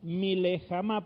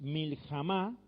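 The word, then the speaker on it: מלחמה: entonces dice Yahvé, Ish, no es Milejama, porque no se pronuncia ahí, sino es Yahvé Ish Miljama, Yahvé Shmo. ¿Qué quiere Shemo?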